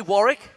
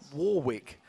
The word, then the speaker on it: Warwick: against Alliance But first you say tomato I say tomato I say Warick and not Warwick anyway alliance's outspoken mid